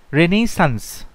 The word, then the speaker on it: Renaissance: সুতরাং তোমাকে এখানে বলতে হবে যে রেনেসা যে বানানটা সেটা হচ্ছে RENAISSANCE, রেনেসান্স।